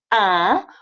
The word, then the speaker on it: un: a and it's pronounced ah i know some of you guys speak spanish it's spelled you n but it's pronounced ah just like number one ah okay same thing if